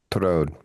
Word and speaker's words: Tureaud: Touraud. It's like a French name. Tureaud. Ture. Torode.